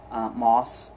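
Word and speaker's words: Maus: He wrote the fantastic novels Moss 1 and 2, or Mouse. I'm not sure how you pronounce it. I've heard people say it both ways, which is about a mouse who's a Jew surviving World War II.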